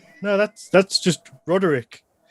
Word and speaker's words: Ruarigh: I was like, no, apparently it's Roderick. I mean, so it was, it's a good one. Oh, yeah. In university, I was known as because nobody could pronounce it.